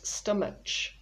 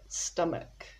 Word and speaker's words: stomach: people often pronounce this stomach but the h at the end is silent english is full of silent letters so we've got stomach there we go there's